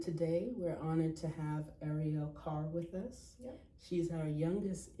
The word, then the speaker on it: Arielle Carr: So, my name is Ariel Carr. Um, it's spelled out A R I E L L E and then my last name is C A R R.